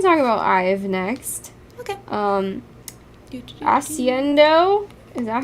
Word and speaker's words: Accendio: Accendio?